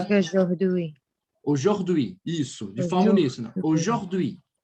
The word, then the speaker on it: aujourd'hui: Todas as vezes que você vir a U em uma palavra, o som é do quê? De O, tá? O. Dessa forma.